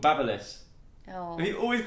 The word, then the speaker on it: Babyliss: my God, is it actually called Babyliss? Yeah, look how Why it's is it spelled like B-A-B-Y? That's baby. Babyliss. Babyliss Crazy Braid.